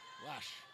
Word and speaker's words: Lesh: Do you pronounce that Lesh? Leach? Lesh? Lesh.